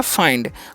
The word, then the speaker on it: find: आगे लिखा हुआ है FIND, एफ से होता है फ, RAI का उच्चारण आई कर देंगे तो हो गया फाई, ठीक है। और एन का अनुस्वार कर देंगे डी से, तो हो गया फाइंड।